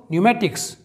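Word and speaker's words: pneumatics: अगला देखते हैं दोस्तों न्यूमेटिक्स।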